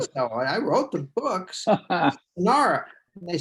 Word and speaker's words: Shannara: the TV show, and they were all saying Shannara, and I said that's wrong, and they said, well, who says? And I said, I say so. I wrote the books, Shannara.